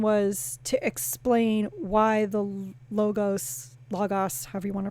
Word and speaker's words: logos: hide knowledge the logos i'm going to say logos gotta do the greek pronunciation the logos to illuminate